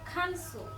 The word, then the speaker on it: cancel: yes very stress I cancel cancel the stress is on the first so we have so